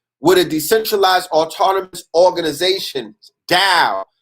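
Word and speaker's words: DAO: a decentralized autonomous organization down pronounce dow like pronounced taoism right and it's spelled d-a-o what that is is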